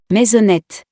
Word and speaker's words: maisonnette: The first one is at the end of the word. We don't pronounce the E letter. An example is maisonnette.